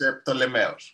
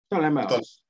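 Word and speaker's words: Πτολεμαῖος: How you say it in English? Angelos, say it in Greek, okay? It's Ptolemeos. Ptolemeos. Okay. Ptolemy.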